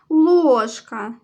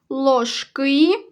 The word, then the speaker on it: ложка: ставимо кому позначаємо наголос ложка наголошений перший склад ложки другий склад далі вправо допиши самостійно